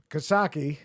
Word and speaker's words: Coxsackie: there's Kasaki. That's how you say it locally. Coxsackie.